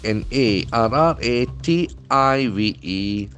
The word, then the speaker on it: narrative: a very interesting word n a r r a t i v e so that is a beautiful noun narrative narrative the accent false on the first world narrative narrative a story or